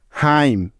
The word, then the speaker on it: hymn: হাইম, HYMN, হাইম।